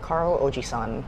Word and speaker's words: Carl Og3: So san is the word for 3, so that's how you say it, Carl Ojisan Burger Shop.